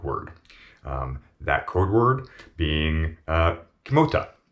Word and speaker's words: Kimota: That code word being Kimota, which is phonetically atomic, spelt backwards. K-I-M-O-T-A.